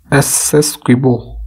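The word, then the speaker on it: Essequibo: हाल ही में खबरों में रहे एसएस क्विबो, इस तरीके से प्रोनाउंस करेंगे इसे, ये क्षेत्र है किन दो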